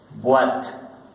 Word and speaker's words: boîte: Boîte, boîte. Más adelante les voy a enseñar cómo se pronuncia esta O con esta I, que suena una U-A.